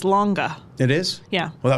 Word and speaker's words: Lange: Lange. I love that. I wish that was the pronunciation.